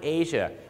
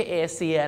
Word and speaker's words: Asia: ถูก ต้อง แล้ว ครับ ออก เสียง ว่า Asia ไม่ ใช่ เอเซีย นะ ฮะ วิธี การ